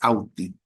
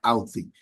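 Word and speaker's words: Authy: La que nosotros recomendamos es Auti. Se escribe AU thy, Auti.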